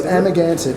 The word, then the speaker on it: Amagansett: So I'll spell it for you because it's an old Indian Montaukett tribe word. So it's Amagansett, AMAGANSETT.